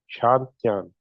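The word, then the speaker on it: 商店: ये जैसे अगर इंग्लिश इंग्लिश में मैं इसको पढ़ूँ तो ये शैंग तियान का तरह लिखा लिखा हुआ है, मगर इसको हम पढ़ेंगे शांतियान। यानी जी जो है वो साइलेंट सा होता है, और टी जो है वो उसको यानी जिस तरह उर्दू में ते होता है उसकी तरह पढ़ा जाता है, शांतियान।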